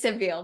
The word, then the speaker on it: Sevilla: So in Spanish is Sevilla, and I was talking to Stephanie about it. I was like, how do you say it in English again? So it's Seville, but anyway, if you speak Spanish, it's Sevilla.